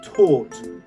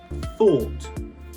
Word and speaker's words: thought: You have to put your tongue in between your teeth. Okay, so the word is thought, and you can see your tongue.